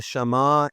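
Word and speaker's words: Shema: So, we get when we get to the great commandment, here is the shama in Hebrew. The shama in Hebrew, it's proper pronunciation, Shama Israel.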